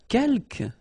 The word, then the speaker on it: quelques: Quelques, you don't pronounce the final S here. Quelques means few, okay?